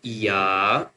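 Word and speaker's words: ي: The next one two dots down is you know two dots down called ya.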